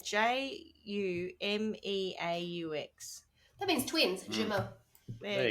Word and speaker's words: jumeaux: Well, if I'm saying it right, it's spelled. Yeah. Spelled. It's Jumeaux.